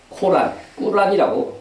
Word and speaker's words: 꾸란: 우리의 성경 말씀과 같이 이슬람에서는 꾸란이 더 정확한 발음이에요.